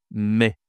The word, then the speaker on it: mai: La prononciation ici, c'est mai. Mai. C'est le son, hein, c'est la voyelle est. Mai. Attention, hein, ce n'est pas maille. Hein. Attention à maille. Dans certaines langues, on dit maille, mais ici, on dit mai.